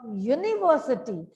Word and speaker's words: university: shop a train a university now the word university it starts with the letter u u is a vowel here but see the sound of u produced there yeah it's a consonant sound and hence we use